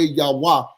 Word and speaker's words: Yahweh: You cannot use Eyeh because He told you in the next line, Yahuwah, Yahweh, Yahweh is how you say His name, and that is His name forever from generation to generation.